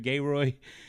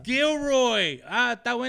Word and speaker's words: Gilroy: for having me here in gay Roy man gayro party is hard bro and after like the fifth one they're like yeah they started laugh like is he serious like it's Gilroy G Roy and then uh see